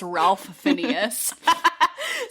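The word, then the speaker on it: Ralph Fiennes: If we pronounce his name is Ralph Phineas.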